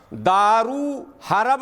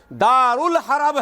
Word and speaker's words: दारुल हरब: दारू हरब नहीं है, दारू तो बंद है बिहार में, दारुल हरब है और दारुस सलाम है, दारू अल इस्लाम नहीं है, दारुस सलाम।